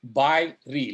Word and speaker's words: FIBREE: It is FIBREE, like buy real estate, because that's a good idea.